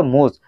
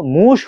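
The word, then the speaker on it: муж: এটার উচ্চারণ হওয়ার দরকার ছিল মুজ। বাট মুজ না হয়ে কেন? মুশ হলো।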